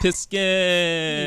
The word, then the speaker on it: Piskin: Is it Piskin? Is that how you say it? Yes. Piskin.